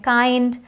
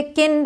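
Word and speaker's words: kind: और भी वर्ड्स हैं काइंड माइल्ड इसे किंड और मिल्ड नहीं पढ़ेंगे काइंड माइल्ड ग्राइंड वाइल्ड तो एक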